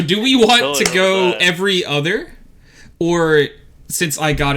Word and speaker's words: EVE: go who is eve eat it spelled like with an i i think it was pronounced eve in the movie that right it was yeah okay it was was it evie tony's saying it right